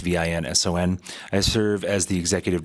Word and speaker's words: Vincent: First name is Vincent. It's Vinson.